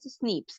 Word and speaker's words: SNPs: polymorphism that is snps which is pronounced as Snips so these are the